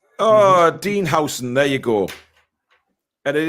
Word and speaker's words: Huijsen: It's Huijsen.